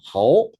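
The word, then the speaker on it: 好: 그래서 뭐 그 있잖아 뭐 저기 우리 말 중국말로 좋다가 뭡니까? 하오. 하오. 우리는 그 글자를 뭐라 읽어요? 호 호 호 이렇게 읽잖아. 그러니까 한자 발음을 완벽하게 중국식으로 우리는 못 해요. 다시 비슷하게 발음을 해 주는 거지. 좋을 호자를 그들은 하오 하지만 우리는 호 한단 말이야.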